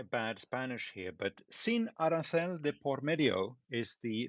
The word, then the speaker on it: arancel: Like in Mexico, we pronounce it a bit different. But no, it's not a food recipe. Actually, arancel, well, Oscar might say arancel, but here in Mexico,